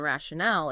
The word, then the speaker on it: rationale: And the stress in rationally is on the first syllable, while in rationale, it's on the third.